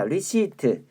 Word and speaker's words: receipt: 자, receipt. 리시트라고 읽어야 돼. 이거 리시프트라고 읽으면 안 돼요. 피 발음 안 해요.